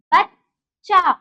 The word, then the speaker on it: बच्चा: तो हमें चा को, पूरे चा को आधा करके बनाना पड़ेगा, तभी जाके ये उच्चारण होगा बच्चा, वरना क्या हो जाएगा? बच्चा। वो गलत है।